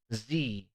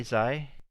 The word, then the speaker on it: Xi: world lines it's pronounced z by the way what did i say zai zaitek it's z-tech okay x-i is pronounced z-e-e all right construct your